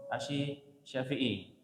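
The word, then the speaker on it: asy-Syafi'i: Dulu sebelum belajar bahasa Arab bingung nih bacanya asyi syariah gitu. Asyafi'i bacanya As Syafi'i.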